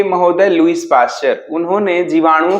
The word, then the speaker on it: Pasteur: पास्टियर लिखते हैं, बोलते हैं पास्चर। टी यहाँ पे साइलेंट हो जाता है, लेकिन हम लोग इंडियंस हैं, हमें तो स्पेलिंग क्लियर सही से बोलनी चाहिए।